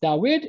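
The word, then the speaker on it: דויד: would be dawid dawid both are pronounced the same it's dawid and dawid but some scribes decide to add the yod to convey that there's that is sound same thing in the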